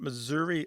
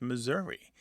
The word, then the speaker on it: Missouri: becoming a schwa, because some Missourians don't say Missouri or Missouri. They say Missouri, more like the E in get or met.